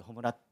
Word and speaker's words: 炎: すけど、炎と書いて炎と読むんですけ